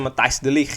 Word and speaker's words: Matthijs de Ligt: Jadi dikabarkan juga Erik ten Hag ini ingin menggabungkan ya Frenkie de Jong dan juga Matthijs de Ligt, itu bacanya Matthijs de Ligt ya, di Manchester United.